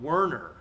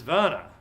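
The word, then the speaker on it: Werner: have them pronounced uh my friend uh w r n eer is not wner it is Vana right and Vanna cares that his name is pronounced Vana um so regardless of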